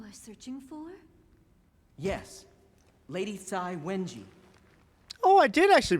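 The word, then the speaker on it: Cai Wenji: Yes, Lady Tsai Wenji. Oh, I did actually pronounce her name mostly right. I didn't I pronounced it Kai at first, but Tsai. Yeah, Tsai Wenji.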